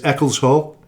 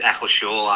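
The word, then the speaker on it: Eccleshall: Uh I think the correct the correct pronunciation is Eckles Hall. Is that correct? No, it's Eckles Shaw actually.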